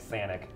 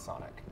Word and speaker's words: Sonic: very fast right now I'm like Sanic that's Sonic like Sonic that's that's just a clever mispronunciation yeah that's a clever